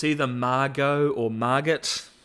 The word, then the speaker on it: Margot: it's either Margo or Margot I think it's Margo the te is silent but it might be